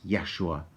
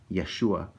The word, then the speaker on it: Yeshua: back in the old the way they would actually say his name was probably something like Yeshua Yeshua because there's no J JJ in the Hebrew language and uh I I thought there might not be a v either I'm not sure but